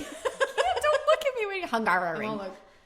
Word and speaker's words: Hungaroring: Don't look at me when you're Hungaroring. Hungaroring.